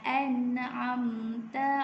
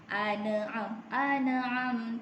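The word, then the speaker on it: أنعم: Dia huruf nun tu tak ada baris pun di petanda sukun. Kita jelaskan. Bila kita baca, kita kena tengok. Okey, ejaan dia macam mana? An'am. Alif fathah nun sukun an. Alif fathah nun sukun an. Okey. An'am. Ni tak perlu dengung.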